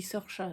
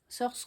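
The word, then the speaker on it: Saoirse: Je crois que ça se dit Sorcha d'ailleurs comme l'héroïne. Ça s'écrit wars s a O i R S e. Sorce Ronan Ronan qui a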